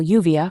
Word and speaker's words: lluvia: The pronunciation of LL varies by region. In many regions, it's pronounced like the Y in U, for example, lluvia for rain.